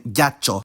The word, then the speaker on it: ghiaccio: after the consonant to indicate this, like in ghiaccio.